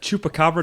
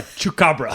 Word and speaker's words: chupacabra: It's a chupacabra, not a chukabra.